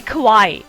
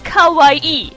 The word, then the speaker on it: kawaii: you're saying cute it's kawaii if you're saying scared it's kawaii it's just such a